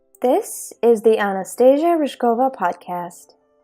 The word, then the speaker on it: Anastasia: Yeah, it's pretty hard to pronounce your name, Anastasia. Anastasia is fine.